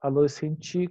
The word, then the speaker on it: adolescente: E adolescente, a gente fala adolescente com i, né?